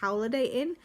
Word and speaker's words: Howliday Inn: So now I go on to Holiday Inn, which I believe actually is pronounced Howliday Inn, Holiday WLDAY Inn.